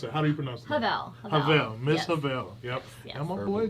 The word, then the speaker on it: Havel: how do you pronounce it how do you pronounce it pavel miss havel yep yeah i'm a boy jv thank you